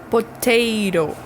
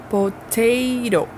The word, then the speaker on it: potato: Potato. Potato. Primeiro T com letra de T mesmo. Segundo T com som de R.